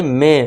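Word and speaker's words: may: ए के बाद वाई मे। माई नहीं पढ़ेंगे। इसे मे पढ़ेंगे।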